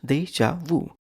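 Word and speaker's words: déjà vu: word is deja Wu Deja wuu is three syllables Deja Vu deu is noun theu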